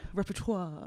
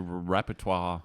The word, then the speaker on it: repertoire: Yeah, your repertoire. Repertoire. Is it repertoire? Well, yeah, repertoire. I think is the French pronunciation.